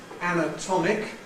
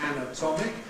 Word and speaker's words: anatomic: So we can compare the adjective anatomic with the noun anatomy.